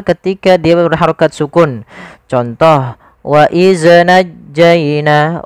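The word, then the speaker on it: وإذ: Contoh, waidz najjaina. Waidz ini memantul. Harusnya tidak boleh mantul. Bagaimana supaya tidak memantul? Adalah ujung lidah kita menempel dengan gigi sari atas. Waidz waidz.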